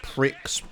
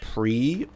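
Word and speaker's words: Prix: again soon why is Pricks pronounced pre I bet it's the damn French yeah it's it's it's French it's a there's a consonant at the end of the word so you don't pronounce it for whatever God forsaken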